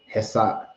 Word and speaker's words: Hesiod: Hesiod.